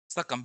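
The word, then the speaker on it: succumb: पहले एक देखते हैं सकम को सकम बी साइलेंट होता है झुक जाना मर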